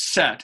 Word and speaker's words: Seth: darkness yeah okay but the th that's not a thing outside of English so it's set so it's set it would be pronounced